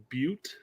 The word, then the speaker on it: Butte: a guy named Dick Butts. But listen, Beavers is just a funny last name. I'm sorry. It's Derek. I hate to tell you, but it's actually pronounced Butte, not Butt.